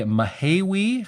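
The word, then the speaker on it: Mahaiwe: So, on Saturday, March 14th, I will be headlining the Mahiwi I have learned how to say it.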